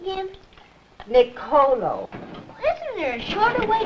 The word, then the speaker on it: Nicolo: Nicolo.